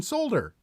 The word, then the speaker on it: solder: I said I'm now going to pronounce the L in solder, and I lost subscribers for that video, even though it was a totally serious video, 110%.